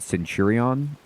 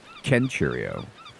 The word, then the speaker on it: Centurio: Um, I would have just said Centurion and Centurio, but he he's doing the hard C there. He's Kenurio.